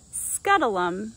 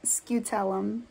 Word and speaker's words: scutellum: bugs are easily identifiable by the large triangular scutulum on their thorax it's this triangle that you see right here editing gabby here and it is actually pronounced skeutelum apparently all insects have scuttleums scutellum just not as prominent as the stinkbug at